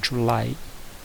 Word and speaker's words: July: Então é July. E esse J, tanto no June quanto no July, ele vai ser pronunciado como se fosse um D.